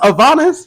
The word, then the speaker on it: Avanis: And it's pronounced Avanis. Yes, it's pronounced Avylvanas. Essentially Adonis, but with a V.